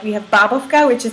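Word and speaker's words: bábovka: Wait, so how do you pronounce that? Babovka. It's Babovka.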